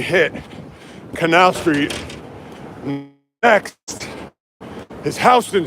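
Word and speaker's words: Houston Street: Next is Hston Street. Spelled like Houston.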